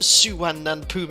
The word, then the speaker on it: Suvarnabhumi: This place is pronounced Suvarnabhumi International Airport.